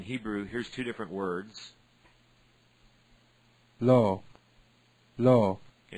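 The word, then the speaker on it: לו: Lo. Lo. Okay, they're both pronounced lo, but if I right-click on them, one means no or not, and the other means to him.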